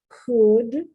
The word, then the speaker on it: could: Could, should, no L.